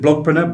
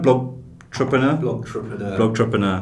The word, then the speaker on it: Blogtrepreneur: Is it Blogpreneur? Blogtrepreneur. Most awkward name ever to pronounce.